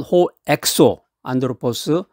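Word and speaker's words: ὁ ἔξω ἄνθρωπος: 겉사람하고 발음이 비슷한데 겉사람은 호엑소 안드로포스, 속사람은 호에소 안드로포스. 이 속사람에 해당되는 이 호에소 안드로포스는 우리의 영혼이라든가 믿음 그리고 하나님과의 관계를 의미하는 말입니다.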